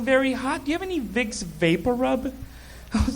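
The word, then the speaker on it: Vicks VapoRub: I moved here to realize the big Papa Roo it's actually pronounced vicks vapor rub do you have any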